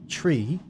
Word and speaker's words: three: use over a radio three is pronounced as tree five is pronounced as